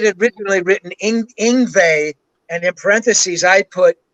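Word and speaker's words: Yngwie: written really written in ingva and in parentheses i put rhymes with stingray because nobody knew how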